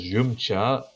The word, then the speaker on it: Yamcha: fashion advice from Bulma Yamcha which you can also pronounce as yumcha because you know puns and yum just drinking tea it's a pun to drinking tea okay let's beat SWS